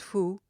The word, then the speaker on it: faut: He looked greatly excited as he called out to us, "Mesdames, mesdames," or "Madame," pronounced more as the other, "Il ne faut," pronounced fou, "pas passer par là."